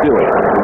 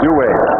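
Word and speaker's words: Duhe: Douay changed his name on it. It used to be Douay. Just Douay. Yeah. Apparently, though, the Cajun pronunciation is Douay.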